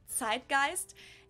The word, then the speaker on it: Zeitgeist: some other languages too Americans usually say Zeitgeist in German we pronounce it Zeitgeist and this consists of